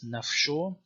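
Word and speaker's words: ܢܦܫܐ: It has a fricative post-vocalic pronunciation in Western Syriac as F, so like soul or self is nafsho.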